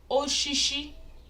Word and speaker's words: Osisi: Fruit is Nkpuru Osisi. Nkpuru Osisi. Nkpuru Osisi. Some people will say Nkpuru Oshishi. Oshishi. Osisi. They're the same thing, just different dialects.